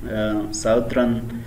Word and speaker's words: southern: तो प्रोनाउंसिएशन की अगर हम देखें कि इसको कैसे प्रोनाउंस करें तो साउथरन इसी तरह ब्रेथरन.